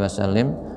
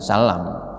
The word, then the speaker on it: wasallim: Dan cara membacanya diingat-ingat, kalau di depan itu sholli, maka taslimnya itu ya hak kasroh, ya, jadi baca wasallim, jangan salam.